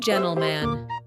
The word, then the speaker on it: gentleman: 첫 번째 g젠틀맨 gent man 미국식 회화에서는 제만처럼 들립니다. He is a true gentleman.